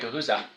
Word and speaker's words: Guhuza: I have here Marc Belaiche, the co-founder of Guhuza. Am I pronouncing that correctly there, Mark? That's right, Guhuza.